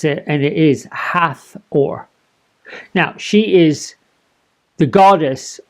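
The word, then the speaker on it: Hathor: weird thing but I've asked several online resources pronounce it and it is hath or now she is the goddess of heaven she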